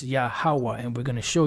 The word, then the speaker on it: Yahawah: an Arabic transcription of the name which is pronounced yahwah this is close but it's not because it's yahawa and we're going to show you that matter of fact oh and this is or Yahweh see so even with these so-called Scholars in